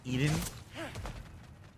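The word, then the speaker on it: Iðunn: of eating Edie en it's i-d-u-n-n and it's pronounced the same way Eden interesting okay we'll continue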